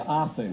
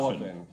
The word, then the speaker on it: Offen: Offen, right? Not Offen. Offen. Offen. Not Offen.